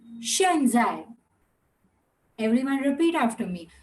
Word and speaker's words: 现在: So right now is X is Shatkon ka sh and Z again ch or j. So it will be Shen Zai. Everyone repeat after me. Shen Zai. Again. Shen Zai.